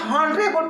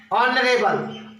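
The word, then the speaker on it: honorable: हम इसे हॉनरेबल पढ़ते हैं जबकि एच साइलेंट होता है। अब बचा ओ, ऑनरेबल, और जब यह स्वर है तो स्वर के साथ हम एन का प्रयोग करेंगे, एन ऑनरेबल।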